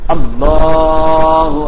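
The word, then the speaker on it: الله: അപ്പോൾ അല്ലാഹ്. അപ്പോൾ എവിടെയാണ് അതിന്റെ ഉച്ചാരണ സ്ഥാനം?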